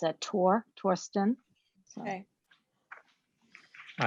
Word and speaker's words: Thorsten: with an h it's t-h-o-r-s-t-e-n although it's not pronounced as a the it's a tor torsten okay all right so we'll we'll uh uh